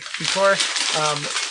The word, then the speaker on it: Kikori: I think it's Kikori. Kikori.